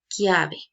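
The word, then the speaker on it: chiave: ver en rosado pero si yo pronunció llave en italiano yo voy a pronunciar clave sí que significa llave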